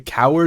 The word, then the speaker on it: Cowherd: So Colin, it's his name, Cowherd.